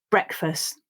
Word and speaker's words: breakfast: uh and s sounds you'll see that i don't pronounce that final t but if you do then it also practices the t sound listen and repeat breakfast word number 10 is